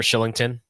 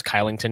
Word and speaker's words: Kylington: You know Oliver Schillington, you know the Swedish name. People thought it was Kylington because how it's spelled.